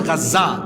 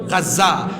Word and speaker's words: গাজা: হারাইছে যেখানে বর্তমান ফিলিস্তিনের গাজ্জা আপনারা তো গাজা আরবি উচ্চারণ হইল গাজ্জা যেখানে গাজ্জা অবস্থিত হারাইছে